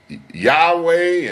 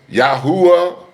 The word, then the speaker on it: Yahweh: Some say his name is Yahweh, and the others say it's Yahuwah, Yahuwah, Yahuwah, and Yahweh. Ladies and gentlemen, I'm sticking with Yahweh. Ladies and gentlemen, I'm staying with Yahweh.